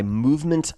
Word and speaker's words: MVMT: This episode is brought to you by Movement Watches, and that is spelled MVMT, Movement Watches.